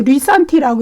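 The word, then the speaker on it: λύσαντι: 구절에 나타나죠 여러분 해방하시고 이거는 이제 헬라어로 리산티라고 읽어요.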